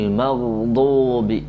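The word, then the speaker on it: المغضوب: അൽ മൗദൂബി മൗദൂബി മൗദൂബി മൗദൂബി, ഇതാണ് ഈ ദ്വാദിൻ്റെ ഉച്ചാരണം.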